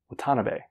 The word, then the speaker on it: Watanabe: But the thing I don't understand is I am like 95% sure Momo's last name is pronounced Watanabe.